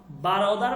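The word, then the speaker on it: برادر: বারোদার, বেরোদার না, বারোদার, বারোদার, বারোদার, বারোদার মানে ভাই।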